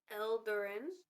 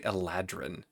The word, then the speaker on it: Eladrin: He is a Eldarin elf. I said that right? The pronunciation is actually Eladrin. Adrin. Sounds more elfy.